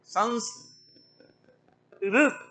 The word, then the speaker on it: संस्कृत: और फिर क है संस कृत कृत कृत कृत। अब क्रु के लिए जिह्वा मूर्धा में ले जानी पड़ेगी, तो संस्कृत ये उच्चारण होगा।